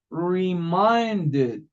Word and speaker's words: reminded: Si terminan en D o en T, se pronuncia E. En este caso, reminded, reminded, reminded.